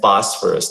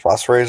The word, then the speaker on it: phosphorus: language is so funny ph makes the f sound can you imagine that it's arsenic and phosphorus thank you so much